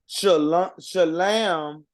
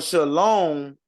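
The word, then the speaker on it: שלום: clear to people um shalam or shalom is a uh it's a um a Yiddish German dialect so they're not even saying it correctly it's shalam that that's shalam and Shalom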